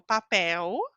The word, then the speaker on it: papel: Então eu digo papel, Brasil, calça, certo? Letra L ao final ou letra L sem vogal, eu pronuncio como U.